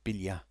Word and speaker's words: Biglia: Bila I mean it's it's spelled biglia but I think they pronounce it Bila anyway we don't need